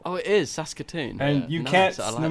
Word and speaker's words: Saskatoon: Saskatoon yeah it's very it's pronounced exactly how its spelt oh it is Saskatoon and you can't tell no matter how hard you try you can't sound cool saying that either Saskatoon yeah yeah yeah bro